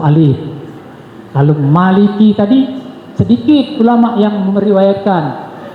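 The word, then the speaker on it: مالك: Karena malaikat Jibril, ya, Maliki. Nah itu seperti saya terangkan tadi, jumhur ulama bacanya 2 harkat. 2 harkat itu artinya 1 alif. Maliki. Tapi ada ulama yang membaca dengan Malik 1 harkat saja.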